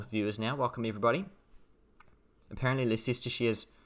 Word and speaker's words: Leicestershire: Apparently Leicestershire is pronounced Leicestershire.